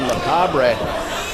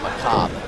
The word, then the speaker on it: Macabre: been for young devlin macabre glad you're here because i would have pronounced that my cop 100 of the time yeah it looks like